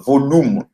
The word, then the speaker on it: volum: Et ici, j'insiste aussi sur la prononciation du U, qui en roumain, c'est comme OU en français. Donc, volume. Ça s'écrit donc V-O-L-U-M. Mais les Roumains disent V-O-L-U-M.